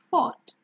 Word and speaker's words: fought: So caught, fought, brought.